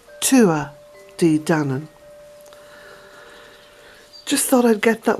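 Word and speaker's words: Tuatha Dé Danann: And also the pronunciation of what is written as Tuatha De Danann, the pronunciation is Tua De Danann. Tua De Danann.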